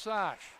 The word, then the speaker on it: Šáš: I know what the name is spelled, but it's pronounced Sash.